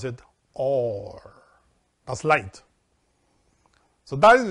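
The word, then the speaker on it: אור: read it in english but you pronounce it pronounce it or that's light so that is the third aspect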